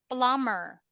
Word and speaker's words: plumber: this um Foreman number Elsa silent B plumber remember cleaner mailman cheat